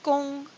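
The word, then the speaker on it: 工: The first color you have to trace is red, huáng, which combines the silk radical with the work radical, because work is pronounced gong, so it rhymes with huáng, red.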